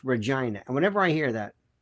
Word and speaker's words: Regina: But I think it's pronounced Regina.